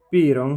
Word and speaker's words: Piron: Piron si scrive con la I ed è principe come suo fratello Daeron, con il quale si deve scontrare per diventare re.